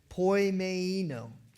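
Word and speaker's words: ποιμαίνω: It's a Greek word pronounced poimeino.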